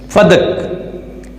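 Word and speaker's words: فدک: کو کہتے ہیں فدق، اور اس کا جو تلفظ ہے یاد رکھیے فدق نہیں ہے، فا پر بھی زبر ہے، دال پر بھی زبر ہے، فدق۔ یہ ایک وسیع باغ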